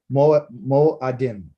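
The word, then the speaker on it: מועדים: Second one is Moed, or third one is Moedim. Should have said Shalishi. The Shalishi? Moadim.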